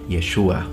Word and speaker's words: Yeshua: the ancient romans or as his name was probably pronounced in his language yeshua some people trying